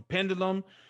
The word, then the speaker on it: pendulum: have exceptions pendulum curriculum now for pendulum is stressed on the first for curriculum it moves